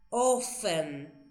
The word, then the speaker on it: often: Y yo les dije la T no se pronuncia ofen.